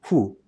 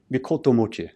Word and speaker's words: mikotomochi: So they feel that scholars have advanced their argument that the character here should not be pronounced, you know, who, but differently. We call it here Mikoto Mochi, or mean person.